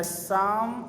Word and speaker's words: Psalm: Poem का नाम है द साम ऑफ लाइफ। इसमें पी साइलेंट है, ठीक है।